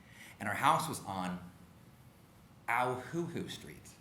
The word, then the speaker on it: Auhuhu: And our house was on Auhuhu Street. My mom taught us how to say the name by pinching us, ow, and saying, "What sound does owl make? Hoo, hoo."